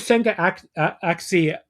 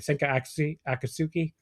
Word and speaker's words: Senka Akatsuki: I believe that was Senka Axi at ringside. I can never pronounce her name. I'm sorry. Senka Akatsuki.